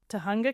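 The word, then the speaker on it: Tujunga: I was scrolling around Tunga Canyon is how you pronounce it Tunga in Google Maps just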